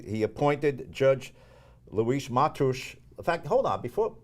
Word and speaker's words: Luis Mateus: My name is Luis Matush. I'm an Associate Justice on the Rhode Island Superior Court. There you go. There you go. He's giving us the Portuguese pronunciation.